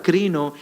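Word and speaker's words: κρίνω: Es más, la palabra juicio acá que es repetida varias veces es una palabra en el griego que se que se pronuncia crino y no se habla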